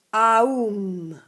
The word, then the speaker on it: Aum: Questo, guarda, si legge. Aum.